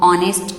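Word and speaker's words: honest: आर एच is silent, there is no sound of एच। आपको पता है जब हम ऑनेस्ट की प्रोनाउंसिएशन करते हैं तो हम यहाँ पे एच साइलेंट रहता है। सेम हेयर यहाँ पे भी आपका एच साइलेंट रहता है। मीन्स अगर हम एच को साइलेंट रखते हैं तो ये वर्ड किससे स्टार्ट हो रहा है?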